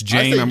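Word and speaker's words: Jain: would you say it's Jane huh would you say that it's Jane where I'm saying it correctly yeah yes okay um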